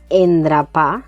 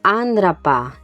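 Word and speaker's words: endrapar: Fíjate que no digo endrapá, sino andrapá. Es un sonido que está entre una e y una a, lo que llamamos bucal neutra.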